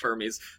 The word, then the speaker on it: Hermes: Yes, we're gonna it's it's it's pronounced Hermes.